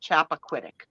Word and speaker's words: Chappaquiddick: But that's how you say it, Chappaquiddick.